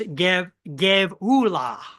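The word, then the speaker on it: גְּבוּלָה: It's pronounced Gevula.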